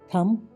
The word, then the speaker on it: thumb: THUMB, थम, अंगूठा। DOUBT, doubt, यानी कि शंका। सी, कभी कभी एस के बाद आया सी साइलेंट होता है।